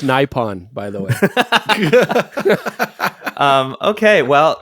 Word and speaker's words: Nippon: It's pronounced Nippon, by the way.